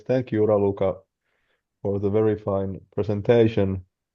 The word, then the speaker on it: Raluca: Uh is your name pronounced Raua? Yes. Yes. Thank you Rauluka for the very fine presentation.